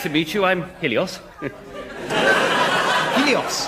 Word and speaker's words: Helios: Helios. Oh, am I pronouncing that right? Yes, that's it. And you're the god of what?